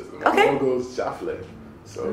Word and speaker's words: JaFleu: My mom goes JaFleu, so it's JaFleu.